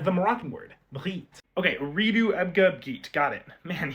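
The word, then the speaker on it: أريد: That would be uridu.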